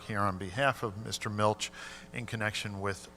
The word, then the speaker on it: Milch: name is milch m-i-l-c-h and it is pronounced milch awesome the address is